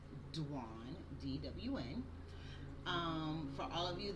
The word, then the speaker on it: Dwan: My name is Dwan, DWN. It is pronounced like Juan with a D, Dwan, DWN.